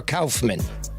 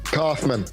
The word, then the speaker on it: Kauffman: Hey, do you pronounce it Kauffman or Kauffman? Kauffman. It's Kauffman, dude.